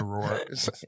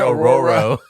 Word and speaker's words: Aurora: I can pronounce Aurora. You can. Oh, yeah. Wait, I forgot what word I said that I up. You said Auroro.